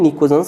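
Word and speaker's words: pnictogens: अब हम बात करते हैं 15th ग्रुप की, जिसको हम नाइट्रोजन फैमिली कहते हैं या निकोजेंस कहते हैं। पी यहाँ पर साइलेंट है, इसको हम निकोजेंस भी बोलते हैं।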